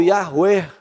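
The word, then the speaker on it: Yahweh: até de falar o nome de Deus yavé ou Jeová ou yaher que é mais perto da pronúncia que que eles fazem lá eles pararam de falar por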